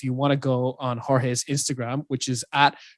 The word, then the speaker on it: Jorge: want to go on jorge's instagram which is at pronounced jorge spelled h-o-r-h-a-y it's like phonetically how you pronounce it in english and just comment on